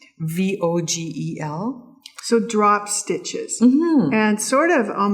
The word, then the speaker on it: Vogel: Pat knit this, and it's a pattern by Edmontonian Christine Vogel, or Vogel. I like to pronounce it with an F because it's the German pronunciation. Vogel.